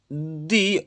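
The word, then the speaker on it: the: Once name was Mohan and दी अदर्स name was Malik.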